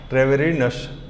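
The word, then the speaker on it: Treviranus: ट्रेवेरिनस क्या है? आप बोलिए। ठीक है, मतलब एक्चुअली क्या है, ट्रेविरेनस है, ट्रेविरेनस।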